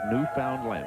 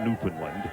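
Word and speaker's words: Newfoundland: New Foundland Canada and that's how they say it New Foundland not Newland hi Grant lots of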